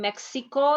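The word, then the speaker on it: México: But when you are in Mexico, you have to call it Mexico. Mexico. That is the way that Mexicans pronounce Mexico.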